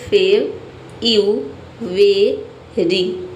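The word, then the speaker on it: February: सबसे पहले आप पढ़िए फेब यू वेरी ठीक है फेब यू वेरीरी फेब यू वेरीरी फेबरी ठीक है यहां पे देखिए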